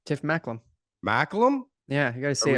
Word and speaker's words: Macklem: Tiff Micklem. Mm, Tiff McCallum. Tiff McCallum. How do you say his last name? Tiff Macklem.